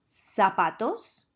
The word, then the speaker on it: zapatos: Whether the Z comes at the beginning or at the end of a word, it should sound like an S. Ejemplos. Zapatos, zapatos, zapatos.